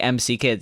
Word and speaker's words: M.C. Kids: I've been calling it McKids until I read the manual and it said MC Absolutely. Kids, and it's like in parentheses EMMCEE.